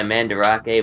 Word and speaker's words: Mandarake: of older stuff uh they go by mandarake but it's spelled Mand Drake and uh they're pretty